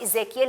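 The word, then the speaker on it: Ezekiel: आप क्या कहते हैं इजियल सो इफ you pronounce it in English उसको आप इजे कियल ही ई से शुरू हो रहा है ना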